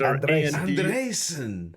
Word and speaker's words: Andresen: And how about the pronunciation of Jonas Andresen? Jonas Andresen. So it's Andresen.